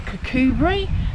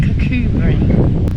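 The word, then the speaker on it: Kirkcudbright: It's quite close to Cubri, spelled Kudbrite but pronounced Cubri.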